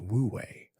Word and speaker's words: wu wei: Zen, however, introduces us to the concept of wu wei, pronounced wu wei, often translated as non-action or effortless action.